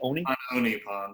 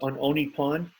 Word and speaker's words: On Oni Pond: carryover from on Oni Pond, how do you pronounce it? On Oni Pond. On Oni Pond.